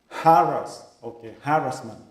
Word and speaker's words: harassment: I used to say harassment, but now I heard that a lot of people try to say that kind of the pronunciation. It should be the emphasis for the first syllable, harassment.